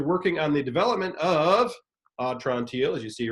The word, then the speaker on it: Atrantil: And props to you for the perfect pronunciation, Atrantil, like, my belly's better.